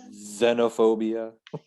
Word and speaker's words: Xenophobia: Z, but spelled with an X, like a xylophone. Yeah. Xerox. Xenophobia. Xenophobia.